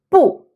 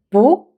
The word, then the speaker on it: 不: When the character is followed by another character that carries the fourth tone, then it's pronounced 不.